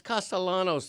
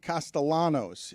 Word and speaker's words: Castellanos: It's not Nick Castellanos. The L always has to be rolled.